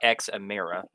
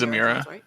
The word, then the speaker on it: Zamira: the Dragon Guardians in zamira is that how it's pronounced I'm assuming it's not X Amira oh yeah it's zamira yeah or one of the